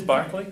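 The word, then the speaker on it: Berkeley: how Burlington they come sometimes and it is Barclay yes yes Bishop Buckley is living in Australia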